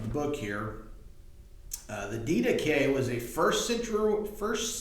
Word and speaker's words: Didache: thing here the D that's the way you actually pronounce it in Greek most of us probably say die Dash but D deay is the way this